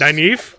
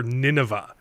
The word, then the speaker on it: Nynaeve: I'm pretty sure one time you called her Nineveh. Yeah. Like from the Bible. It's better than Nynaeve. Like the city.